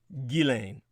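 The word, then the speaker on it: Ghislaine: some years ago but regardless of accent the g is a hard one and the s is silent gillane so that is one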